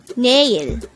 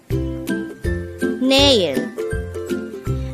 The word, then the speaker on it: 내일: Naeil. Naeil. This is pronounced the two-syllable word. The first syllable is ne, the second syllable is il.